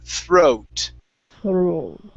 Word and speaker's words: throat: Throat. Now give me a T at the end. Throat. Throat. Okay, you're almost there. We need a T Yes. sound at the very end.